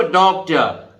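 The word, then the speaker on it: doctor: डॉक्टर, आर नहीं बोलेंगे।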